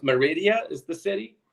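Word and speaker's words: Mérida: why it moved to the what's it it's pronounced Meridia is the city not from Cancun yeah yeah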